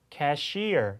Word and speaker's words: cashier: 뭐 우리가 접수 개원을 캐셔 캐셔 이렇게 얘기하는데 실제 캐라 단어의 발음은 cashier 이렇게 이음절 강세 가면서 완전히 두 단어가 꼭